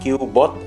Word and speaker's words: Cubot: cubot X50 biaya ini bacanya keyboard ya pokoknya cubot q-bot X50 nah ini kalau gua